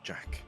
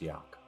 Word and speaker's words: Jack: name is- This is Win, and that is Jack. Apologies for stepping on your introduction. It's pronounced Yak.